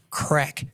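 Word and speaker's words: Craic: So, uh technology firm Crack Health, right, which is spelled C R A I C.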